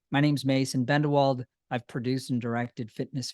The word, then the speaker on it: Bendewald: the opening but I'd say my name's Mason bendelwald I've produced and directed Fitness videos for the